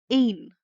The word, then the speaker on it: en: E. Like in the English, in. This sound is whenever it's followed by one consonant. Example would be een, one.